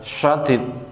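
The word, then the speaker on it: شديد: Sebab kata lafadz sadid pakai sin dan syadid pakai shin itu maknanya beda.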